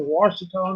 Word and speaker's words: Ouachita: If you're asking what forest that we're near, it's the Ouachita National Forest, which it's spelled Oachita, not like it sounds.